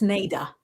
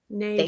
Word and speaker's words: Nada: Oh, and she's correcting my pronunciation. So it's Nada. Nada.